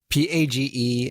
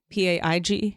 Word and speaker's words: Page: Don't even Page and then. You mean no I? Paig? No, there's no E in. There's no I in Page and there's no E in.